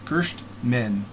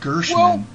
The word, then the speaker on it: Gerstmann: Rafiera, is always like teasing me because I say your name wrong, and I guess it's Gerstmann, not Gershman. Well, yeah. I make the T silent.